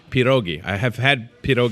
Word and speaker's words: pierogi: is national pierogi Day P dogie if you pronounce it correctly I think that's how it's pronounced is Peter Oggy I have had Pete